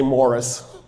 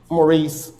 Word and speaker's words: Mauricius: His name was Moricios, but of course, we mispronounce everything. So, I'll just say Morris. Maurice. Morris. Moricio is better.